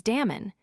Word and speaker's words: Damon: most authors are agreed was Damon whose name they say ought to be pronounced with the first syllable short though Aristotle tells us